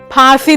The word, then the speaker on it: फांसी: तो फर्क है, फांसी इज द करेक्ट, फांसी इज रॉन्ग। फा में फर्क है, फांसी इज द करेक्ट उच्चारण।